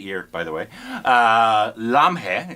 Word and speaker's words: Lamhe: by the way uh lamhe is how you pronounce it I would think so yeah uh directed by Yash